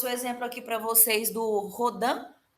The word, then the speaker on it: Rodin: aqui para vocês do rhodan tá rodin rodando pode pronunciar como vocês quiserem normalmente de pronuncia rhodan tá essa escultura acredito